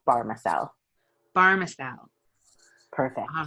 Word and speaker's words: Bahrmasel: it's not a straightforward one but it is pronounced barmacelle pharmaceutical perfect all right i've got ellie barmacel